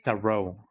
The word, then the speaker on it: tarot: Is it pronounced tarot instead of tarot? In Spanish, of course, it is tarot, but I wonder if it's tarot in English. Just a candle. It's tarot. Oh, okay, I've been pronouncing it right then.